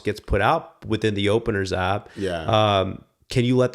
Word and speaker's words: OPNRS: It's just in the Apple Store and it's called Openers. The way it's spelled.